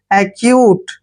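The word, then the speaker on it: acute: होना exceed next word a सी यू टी ई देखिए ए का उच्चारण क्या कर रहे हैं ए और सी का उच्चारण यहां पर क करेंगे जब भी सी के बाद य आता है तो सी को हम क पढ़ते हैं और यू का उच्चारण यहां पर यू करेंगे और टीई को ट पढ़ेंगे एक्यूट एक्यूट होता है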